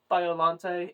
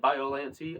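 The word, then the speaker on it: Biollante: I talked about how biolante and biolante are both appropriate uses of um, you know, how to pronounce a word.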